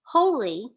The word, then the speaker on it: holy: can read these words why is this one pronounced holly with a short vowel and this one pronounced holy with a long vowel the doubling of that